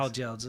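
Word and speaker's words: 包饺子: Bao jiaozi.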